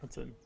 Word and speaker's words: Hoatzin: I think of all spell that? It's Hoatzin. Watson.